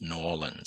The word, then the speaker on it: New Orleans: It'll be in uh New Orleans as I used to mispronounce the name of the city. I got corrected and it's New Orleans. So, I'll be heading back to New Orleans in between uh having coffee and beignet